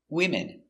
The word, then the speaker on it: women: woman one woman two women three women a lot of women remember no women's no women's no s we change the pronunciation again one woman and three women let's look closer at